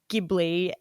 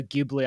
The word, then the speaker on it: Ghibli: the creator says and so ghibli i just have to say the hard g and i did have